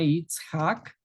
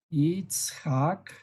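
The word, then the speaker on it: יצחק: En hebreo se pronuncia de esta forma Itzhak, Itzhak, así, y corresponde al temor o al miedo.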